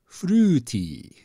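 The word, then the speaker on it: フルーティー: borrowed word from English they basically take the word fruity and they pronounce it with Japanese rules and they get fruti fruity if you pronounce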